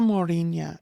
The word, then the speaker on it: Mórrígna: So na Mórrígna is the correct use and it names them collectively.